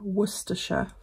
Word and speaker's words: Worcestershire: I keep forgetting to tell her how to pronunciate it properly. So the way we would say it here is Worcestershire.